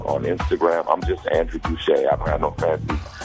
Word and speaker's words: Gouche: You know, my name is Andrew Gouché, and that's how you can find me. Spell it for them. Spell Gouché for them, because it's not spelled the way it may sound.